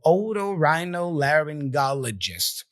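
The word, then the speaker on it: otorhinolaryngologist: again the little e upside down list so oo Rhino laryngologist it's a tough word usually we don't use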